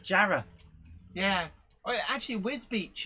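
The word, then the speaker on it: Wisbech: like jarrah yeah actually wiz beach is the one that um when you see it written down a lot of people get that because it's it's misspelt whisper yeah where's batch or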